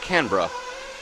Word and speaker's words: Canberra: Oh, it's pronounced Canberra.